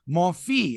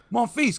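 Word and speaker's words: Monfils: do with that like i stopped you from mispronouncing it's like what's her name on tsn who kept calling gayle morphe and i'm like it's more feast monfies come on yeah all you have to do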